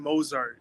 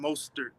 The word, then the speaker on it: Mostert: When you say Raheem Mozart, is that on purpose, or do you think that's how you say it? You say it like that on purpose or as a joke? Like I'm pretty sure it's Raheem Mostert.